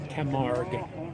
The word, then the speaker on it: Camargue: Pronounce the name of the car again, please. Camargue.